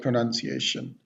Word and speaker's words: pronunciation: Word itself is called pronunciation. So the proper way to pronounce this word is pronunciation.